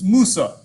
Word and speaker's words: Musa: Moses is not Moses, it's Musa. Solomon is not Solomon, it's Suleiman.